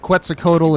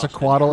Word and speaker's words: Quetzalcoatl: I've heard it pronounced both Quetzalcoatl and Just Quetzalcoatl, and I'm true not back entirely then, sure which not is this which.